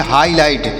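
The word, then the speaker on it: highlight: में किया जाएगा और जी एच यहां पर साइलेंट है इसे नहीं पढ़ेंगे एल आई से पढ़ेंगे ला एल से पढ़ेंगे ल और आई का उच्चारण छोटी की छोटी की छोटी के रूप में किया जाएगा और देखिए जी एसज से पढ़ेंगे ट तो इसे पढ़ेंगे हाईलाइट क्या पढ़ा जाएगा प्यारे बच्चों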